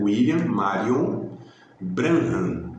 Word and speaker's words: William Marion Branham: Essek William Kenyon, Kenneth Reagan, William Marion Branham, acho que é assim que pronuncia, né? William Marion Branham, né? Que tem o B-R-A-N-H-A-M, Branham.